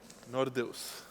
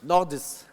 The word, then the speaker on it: Nordeus: Is this Nordeus or Nordeus, or what's the right Serbian way to pronouncing it? What does it mean? Nordeus. Nordeus.